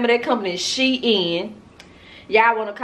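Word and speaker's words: Shein: proof the proof is in the pudding it's pronounced she in Shin nashin not shine but I'm gonna do a dedicated because I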